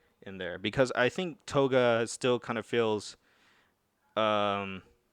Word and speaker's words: Toga: Anyways, Toga, is that how you pronounce her name? Toga, yeah.